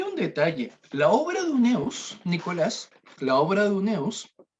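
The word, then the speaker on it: Huneeus: Profe, el autor Carlos Uneus, si no me equivoco se pronuncia su apellido, Sí, eh, unemos.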